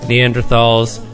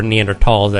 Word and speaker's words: Neanderthals: And Homo sapiens, for hundreds of thousands of years, lived alongside of Neanderthals, or Neanderthals, actually, as it's pronounced.